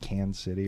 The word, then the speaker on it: Kansas City: accent I will say the regional thing here is just not pronouncing any of the syllables in Kansas City do you always just say that Kansas City yeah it's just like can City or whatever it's that kind